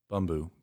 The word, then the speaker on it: Bumbu: A shout out to how do you pronounce it? You think Bumbu? Bumbu.